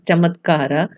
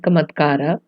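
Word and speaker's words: चमत्कार: So it is pronounced as chamatkara and not kamatkara. So a C is pronounced as ch, and you'll find that difference with the Sanskrit words.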